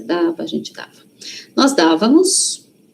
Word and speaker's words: dávamos: Toda vez que uma palavra tem acento, a sílaba forte está no acento. O acento serve para isso, inclusive, tá? Principalmente o acento agudo, né? O outro também, mas o também da dávamos, tá? Não é damos, hein?